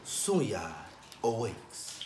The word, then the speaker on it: Sun God Awakes: It's spelled Sun God Awakes. My Facebook name, Sun God Awakes. I pronounce it Sunya Awakes.